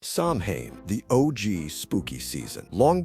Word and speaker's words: Samhain: It was Samhain, pronounced Samhain, the final day of the harvest and the start of winter, aka the season when everything dies.